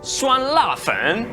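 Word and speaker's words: 酸辣粉: making the hot and sour glass noodles which pronounced in chinese is suan lafen this is a super tasty recipe from a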